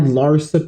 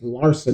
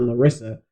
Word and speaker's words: Larsa: life you you had Larsa Pippin I now know her name I can pronounce her name now it's Larson not Larissa I don't know why